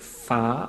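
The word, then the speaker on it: Phare: I thought it was called Fare, but Far, I've got no idea. I was tutored before the talk by a French speaker and was told it was Far.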